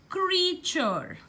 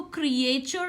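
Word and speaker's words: creature: फीचर similarly word like क्रीचर क्रीचर इसको क्रिएचर नहीं बोलते हम इसको क्रिचर बोलते हैं क्री एंड चर सिमिलरली वर्ड लाइक फ्रैक्चर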